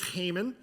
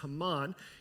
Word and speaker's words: Haman: now I grew up saying the name was hmon um if you say hmon that's fine the correct pronunciation though is Haman and he is King aeris's second in command